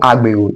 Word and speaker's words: Agbero: Now, they are called Agbero. These are people that actually load people. You understand, they call people. That's why the word is pronounced agbe, like agbero.